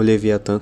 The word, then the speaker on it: Leviathan: Leviathan, ou Leviathan como eu prefiro pronunciar, assim como outras bandas de DSBM, aborda temas sobre depressão e melancolia profunda.